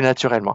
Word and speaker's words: naturellement: Plus naturellement. Faire attention juste après le R, les deux L, hein, plus naturellement.